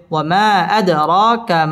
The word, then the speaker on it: وما أدراك: ওয়ামা আদ, দাল কলকলার হরফ, ধাক্কা দিয়ে পড়তে হবে। আদ র, র পুর হবে এবং র খারা জবর, এক আলিফ টান দিয়ে পড়তে হবে। ওয়ামা আদরাকা মাল ক মধ্য তবাই এক আলিফ টেনে পড়তে হবে।